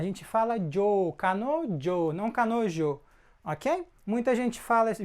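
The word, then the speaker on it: 彼女: homem cárie ele tá nojo ela tá essa pronúncia aqui ó a gente fala Joe Canon não kanojo ok muita gente fala se vê isso na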